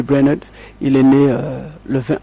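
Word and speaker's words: Brainerd: a façonné son enfance David braener comme j'aime toujours le prononcé en anglais David Brener il est né le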